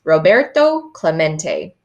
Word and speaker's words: Roberto Clemente: Robert, Clement? It echoed in the near empty stands. Roberto Clemente was his name, and this is pronounced Roberto Clemente.